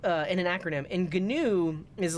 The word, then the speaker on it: GNU: Linux there you go the inventor calls it gnu so ha ha ha